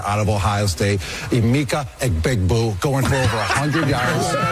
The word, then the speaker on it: Egbuka: Egbuka is the way I Egbuka. But none of the guys that announce it they they don't they call him Abuka. They don't say Abuka.